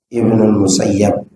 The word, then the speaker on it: Ibnul Musayyab: An Said ibnil Musayyib atau yang bacanya Ibnul Musayyab.